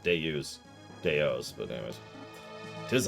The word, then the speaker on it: Deus: What's funny is I think Deus is pronounced just like that. Deus.